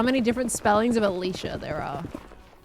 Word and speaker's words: Alicia: Miracle, I know how to pronounce Alicia. All right. At least in my own circle where I live, that is how it was pronounced. It was Alicia.